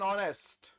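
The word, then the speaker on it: honest: में हां भैया इन सब में एच साइलेंट है हां जी इनमें में एच साइलेंट है। शुरुआत तो एच से हो रही है। लेकिन एच तो साइलेंट है। हमें हां भैया एच क्या है? साइलेंट है। तो इसका साउंड कौन सा आ रहा है?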